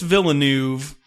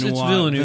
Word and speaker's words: Villeneuve: I'm going to say it like a guy from Missouri. Denis Villeneuve. That's not right at all. It's probably like Denis Villeneuve. No, it's Villeneuve. Villeneuve. It's Villeneuve. I bet the V is silent.